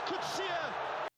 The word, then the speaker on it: Kutsia: This time it's Kutsia. Kutsia. Thank you. That's all I needed. All right. Kutsia. Rivaldo Kutsia. Got it.